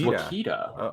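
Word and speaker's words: Ouachita: It's pronounced Wakita.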